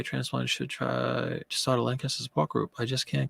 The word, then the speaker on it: Lancaster: and all that so it's just a regional thing they pronounce it Lancaster which is actually very British if you think about